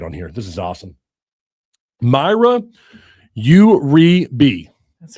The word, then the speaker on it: Mayra Uribe: Mayra Uribe. That's right. it. I got it. I pronounced it wrong on this show a couple of times, but not you boo-boo though, right?